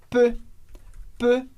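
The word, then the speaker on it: peu: outro comentário importante é sobre a pronúncia dessa palavrinha P que é e u mas o som é simplesmente e e que é um som que a gente não tem no português mas a gente pode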